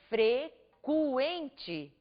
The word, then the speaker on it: frequente: em frequente vejam vocês que nós não dizemos fre mas sim frequente também no grupo Gu